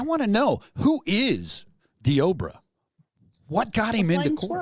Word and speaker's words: Deobra: It's Diobra is how they pronounce it on the news. Okay, Diobra.